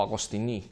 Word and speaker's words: Agostini: que se llama Philippe Agostini, o Agostini, como pronuncian los franceses.